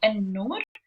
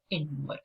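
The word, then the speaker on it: النور: So if I say the light, I say an-nur or in-nur.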